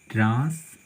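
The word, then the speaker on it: translation: तो देखिए TION, तो इसका उच्चारण क्या कर रहा है, सन कर रहा है, सन हो रहा है, तो सन कर रहे हैं, ठीक है।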